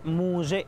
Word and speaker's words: muxe: Entremos a cómo se debería de pronunciar. Bueno, la palabra tiene un origen zapoteco, que es muxe.